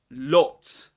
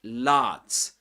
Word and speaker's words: lot: And so yeah, we also discussed that there's usually in British English words such as lot or not. In American English, they're usually pronounced with this R sound, like lat, nat, or pat, for example.